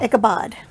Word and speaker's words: Ichabod: I have one card, so Ichabod. What are you looking up? If it's Ichabod or Ichabod. I don't know. Yeah, Ichabod. Bod. Bod. B-O-D. Okay, so there you go. Ichabod.